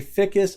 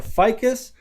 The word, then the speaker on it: ficus: So this is what you would call a ficus or a ficus. Some people pronounce it differently, but these are really